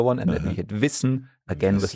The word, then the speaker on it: Wissen: And then we had Wissen, again with like a double S, just as in Tasse. Yeah, Wissen, so short sound, Wissen.